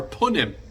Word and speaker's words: punim: conveyed by our countenance our Pinilla or our punim as it's pronounced in Yiddish and whose inflection captures